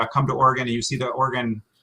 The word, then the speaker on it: Oregon: uh pronunciation number one oregon oregon but normally in in just natural speech i probably say oregon more um so it sounds like you know an organ in your body like your lungs as